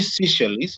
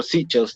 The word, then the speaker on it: Seychelles: We see Seychelles or Seychelles, depending on how you want to pronounce it, coming in as number